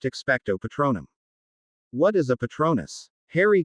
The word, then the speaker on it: Expecto Patronum: The spell, which when performed correctly will conjure a Patronus, is pronounced Expecto Patronum.